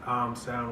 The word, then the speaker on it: Âme Sound: As far as the naming goes, it's pronounced Âme Sound, which a lot of people get wrong, and it's a French word for soul.